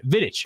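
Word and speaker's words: Vidić: Vidic. Vidic. Excuse me. Vidic. Yeah. Played for Manchester United way back in the day. How old is Nemana Vidic?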